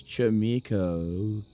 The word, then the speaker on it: Chaemiko: How you actually pronounce it is like O and U. It's Chaemiko. Like that.